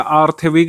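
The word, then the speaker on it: Theilvig: ये के को साइलेंट मानेंगे, जे को साइलेंट मानेंगे और एल को इसमें साइलेंट मानेंगे।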